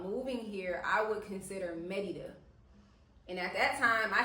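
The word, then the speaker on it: Mérida: here, I would consider Merida." And at that time, I had never heard of Merida. And a lot of people do call it Merida or Marida, but it's Merida. So, that's what I'm saying,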